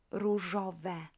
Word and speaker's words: różowe: Różowe. Again. Różowy. Różowa. Różowe. Good. So open e for neuter.